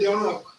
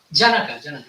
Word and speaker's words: Janaka: Maharaj Jonak. Janaka. Yeah. He's a Bengali, so he's pronouncing like a They were there, and they have their Jivan Mukta.